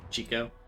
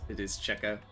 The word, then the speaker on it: Checo: Is it not like Chico? It is Checo. Everyone pronounces it Checo.